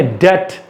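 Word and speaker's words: debt: यस, यहां पर बहुत सारे लोग डेप्ट बोलते हैं, इसको हम लोग क्या बोलेंगे, डेट। यहां पर डम, बी नहीं आएगा, ठीक है।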